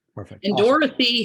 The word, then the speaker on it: Dorothy: Dorothy has two O's. Yeah, it's Doro. People think it's Dorthy.